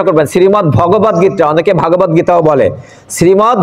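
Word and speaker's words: শ্রীমদ্ভগবদ্গীতা: এটা উচ্চারণটা কি আমাদের গ্রন্থের সেটা আপনারা শুদ্ধ উচ্চারণটা করবেন শ্রীমদ ভগবত গীতা অনেকে ভাগবত গীতাও বলে শ্রীমদ ভগবত দ আর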